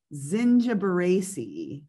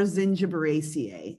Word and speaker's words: Zingiberaceae: So, okay, we today are going to talk about a family called Zingiberaceae or Zingiberaceae. It can be pronounced either way.